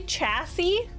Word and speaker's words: chassis: It's actually chassis? I always thought it was chassis. Chassis. Silent S on the end.